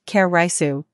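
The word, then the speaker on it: カレーライス: exaggerate when we say that Japanese curry rice pronounced karisu is the national dish when the Japanese say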